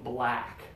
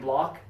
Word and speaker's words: black: black Wow really good do you feel the difference between black and block can you feel the out of the difference yeah oh okay so focus on where the sound is coming from that's important a lot